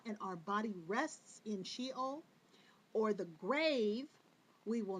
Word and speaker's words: sheol: was translated as hell was a hebrew word pronounced sheol the little hebrews this word means grave it